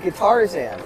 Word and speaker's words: Guitarzan: Guitarzan. Like guitar, like Tarzan.